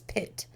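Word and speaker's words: Pitte: His name is Pit. P I T E. I looked up how to say it. That is how you say it.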